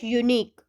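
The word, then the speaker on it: unique: Next है हमारा dash यूनिक, ये भी प्रोनाउंसिएशन में य का साउंड प्रोड्यूस कर रहा है, य यानी व्यंजन जिसको हम कहते हैं कॉन्सोनेंट, तो इसीलिए हम इसके साथ लगाएंगे ए।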